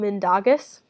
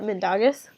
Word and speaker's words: Mindaugas: nation, and they looked to good old King Mindaugas, I think is how you pronounce that, Mindaugas.